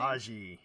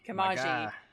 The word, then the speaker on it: Kamaji: Kamaji. Kamaji.